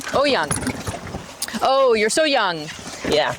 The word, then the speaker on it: Oyung: Oyung. Oyung. Oh, you're so young. Yeah. Perfect. There's no Oy. It's a Chinese name, and if you think of young, then just put an O in front of it.